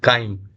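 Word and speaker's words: chyme: तो चाइ कहलाता है। ठीक? ठीक है? काइम। चाइ इसको नहीं पढ़िएगा। इसको क्या पढ़िएगा? काइम। ठीक है? यहां साइलेंट है।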